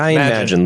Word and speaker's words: Magin: Magin. It's like Imagine, but it's Ryan Magin.